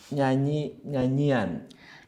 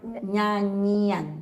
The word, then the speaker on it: nyanyian: So you have to pronounce it nya, which is Nya, they yeah.